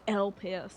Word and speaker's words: Elpis: my stay in elpis elpus sorry we say it like LP and from what I